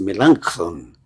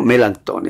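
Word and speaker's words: Melanchthon: Rey escrito por melancón algunos le melantón pero realmente la pronunciación es melanchon Pero melanton está bien pero qué preciosa exposición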